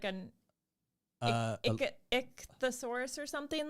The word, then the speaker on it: ichthyosaur: you spell pronunciation there you go why does pronunciation so hard to spell i don't know here we go ichthyosaur ichthyosaur ichthyosaur ichthyosaur so i was close the